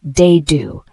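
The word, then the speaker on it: dado: to join pieces together the word d spelled d a d o and it is a noun pronounced de do a is a rectangular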